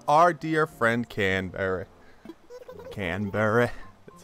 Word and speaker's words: Canberra: fond farewell to our dear friend can bury Canberra that's how you pronounce it it's hard to say goodbye but